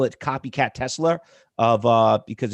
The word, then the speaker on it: Tesla: r but every to every New Yorker it's a Tesla Tesla it's a that isn't how you say it Tesla yeah tesler tesler it's like a Twizzler twizler coffee I I